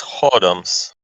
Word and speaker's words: whoredoms: It's without where. It's without W, but it's whoredoms.